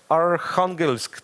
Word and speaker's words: Arkhangelsk: Arkhangelsk, that's how the city is called in Russia, and the variation is